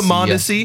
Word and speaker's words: Mondesi: Alberto Mondesi.